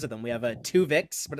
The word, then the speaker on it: Tuvix: We have Tuvix, but it's spelled Twovix, so a sequel to Tuvix, and that's going to be followed by a Harlan Ellison paraphrase.